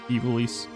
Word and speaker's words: Ivalice: I know a lot of people pronounce it Eiveliss, but I apologize. Ivalis is just always I think in the Japanese it would be Eiveliss.